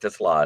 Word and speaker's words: Tesla: Remember, there's an extra A at the end of it. But the Ford got a Tesla. I said that in the draft because even the draft people got his name wrong. It's Isaac to Sla. It's a Slavic name, but he's looking as